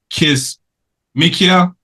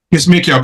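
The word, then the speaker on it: Kizzmekia: next our next shout out here is um kiss mikia that's how you say it K mikia Coober um is an American viral immunologist born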